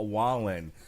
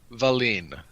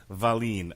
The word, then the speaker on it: Wallin: have i done now mispronounced that gentleman's name badly tyson fury versus mike smith um otto valene valeen okay i think i believe he's swedish ikea's from sweden did